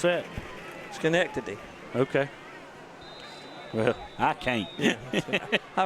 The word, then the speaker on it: Schenectady: Can you pronounce that? Schenectady.